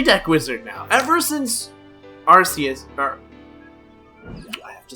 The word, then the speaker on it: Arceus: Ever since Arceus, I have to say it properly. Ever since Arceus, I apologize to those that...